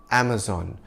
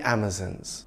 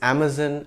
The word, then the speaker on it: Amazon: American pronunciation of the name Amazon where zon rhymes with Don now before there was Amazon the company there was Amazon the rainforest and the mythical female warriors the Amazons of course the British pronunciation for the rain forest and the Warriors is Amazon and Amazons but when it comes to the company name it's best to stick to the American way Amazon foreign but the original